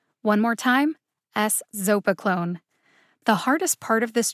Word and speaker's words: eszopiclone: episodic migraine in adults there are four syllables in a zopa clone the emphasis is on the second syllable zo one more time s zopa clone the hardest part of